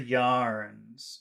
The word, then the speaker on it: yarns: but be careful about the duration of the vowel sound.